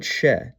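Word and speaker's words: Ч: Its name is ch. It appears in every cerillic script using language and it makes the same sound in all of them. Ch.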